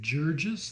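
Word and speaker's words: Jurges: I'm pronouncing that correctly Billy Georges I believe would be how you would say it a 1e 21 after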